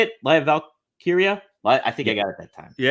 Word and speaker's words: Lyra Valkyria: Lyra Valkyria.